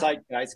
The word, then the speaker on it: Zeitgeist: They say Zeitgeist, it's in German, it's Zeitgeist because the Z is pronounced like a T.